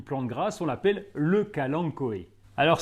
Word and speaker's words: kalanchoé: grasse on l'appelle le kalangoé alors ça s'écrit Cang choé avec un ch mais on prononce kalang koe avec un K c'est une plante très